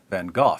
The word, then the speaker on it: van Gogh: the sanity of Dutch painter Vincent van Gogh or than cohort van or van Gogh depending on where you're from and how far you want to deviate from the authentic American pronunciation according to MacLean van